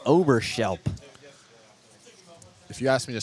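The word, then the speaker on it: Oberschelp: bring up the third baseman number three David Oberershelp. Another good name there. Overshelp right-handed hitter. Fouls one out of play up the right side. O B E R S H E L P. Overshelp.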